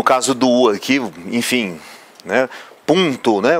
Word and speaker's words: Punto: do arquivo enfim né Punto né o nome do carro lá Punto esse um ele é nasalizado então nós somos uma